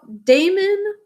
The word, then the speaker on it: Damon: about but here is damon impetius right so damon that's the way we would pronounce it in pythius and we're also going